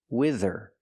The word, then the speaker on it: wither: also a verb pronunciation use a short I like this is wi wi wither and the th makes a voice sound like this and that together wither wither it means to